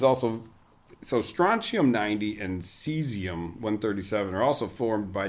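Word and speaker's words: caesium: and I was like is this pronounced kium it's actually they're both cesium but in English versus American that's the English uh spelling like the European English yes yes AE isn't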